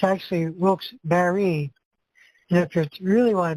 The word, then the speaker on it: Wilkes-Barre: I'm talking about that gentleman who pronounced it Wilkes-Barre. It's actually Wilkes-Barre.